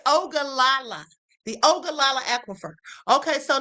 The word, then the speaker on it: Ogallala: Now, I have to see how to pronounce this because y'all know I can't stand it. Hold on. Okay, it's Ogallala.